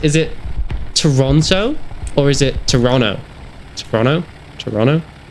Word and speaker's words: Toronto: Apparently you don't pronounce the T's. My girlfriend's always on me whenever I go Toronto. But the T's are written. It's there. There's two of them. That makes Toronto. Doesn't make Toronto.